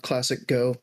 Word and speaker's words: ClassicGho: you just youtube uh classic go g-h-o uh weird spelling i don't even know why my name eventually made sense i didn't gho to be pronounced go but it works so